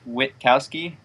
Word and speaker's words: Witkowski: your last name uh it's pronounced Witkowski most people forget the tea but yeah wit so